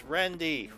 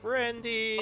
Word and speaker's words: Rendy: Even after I worked for you for so long, it's Rendy. Rendy.